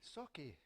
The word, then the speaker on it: Sauchie: I say, well, you've got to split it up and say two words. Say saw, as in a saw, and key, Sauchie. And that's how you pronounce it.